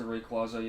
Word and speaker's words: Rayquaza: I don't think I've even run into Rayquaza yet. I think it's actually pronounced Rayquaza, but who cares over here?